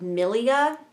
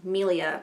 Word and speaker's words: milia: bumpy which is called milia it's Melia I can't remember how to pronounce it m-i-l-i-a milia and it's not it's